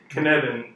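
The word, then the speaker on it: Cynefin: who's heard of the Kineton sense-making framework or Dave Snowden what's one what's me Kineton rhymes with Kevin okay then I'm gonna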